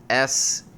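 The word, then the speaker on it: shemagh: it's I don't think it's pronounced magma it's it's spelled s-h-e-m-a-g-h so Shema you don't know nothing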